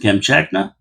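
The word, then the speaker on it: Kamchatka: And that's how you pronounce it. Camchakna.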